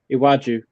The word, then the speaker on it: Iwaju: yeah has another one which I'm gonna probably butcher the name of I want you iwaju hey wedgie thank you Tom for the professional pronunciation of uh awachi um let me grab a little bit more